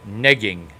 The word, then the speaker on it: negging: The kids call it negging with a hard G.